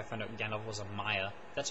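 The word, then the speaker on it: Maia: is how I found out Gand was a Maya that's how you pronounce it Maya um okay so so the elves are Immortal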